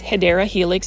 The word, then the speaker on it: Hedera helix: The correct way to say it is Hedera Helix.